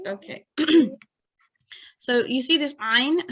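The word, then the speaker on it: ع: So you see this ayn, how do you pronounce that? Ayn. This, yeah, so it has to be slightly tightened and slightly sort of strong.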